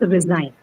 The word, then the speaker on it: resign: So stress on Second second syllable, right? Second syllable, resign. So sign is the one that's going to take the stress.